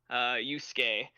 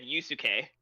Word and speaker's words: Yusuke: but anyway, so the reason I bring it up is because when we first met him, you said Yusuke, like you pronounced each vowel in it.